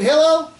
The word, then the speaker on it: Hillel: Does anybody live here named Hillel? Hallel, how do you pronounce it? Hillel.